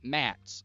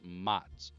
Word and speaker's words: Mats: That's Mats. Not Mats. It's Mats.